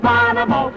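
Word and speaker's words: Bonomo: You spell it B-O-N-O-M-O. Bonimo.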